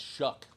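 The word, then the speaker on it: Shough: That a name spelled like that, pronounced Shuck, will be good.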